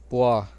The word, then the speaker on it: b: पहला है बी, इसकी प्रोनाउंसिएशन है पोआ, पोआ।